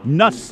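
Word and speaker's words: Nusz: throws here for sowinski nuts is how she pronounces her name n-u-s-z siwinski is two for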